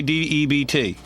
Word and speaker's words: debt: How do you say D-E-B-T? debt.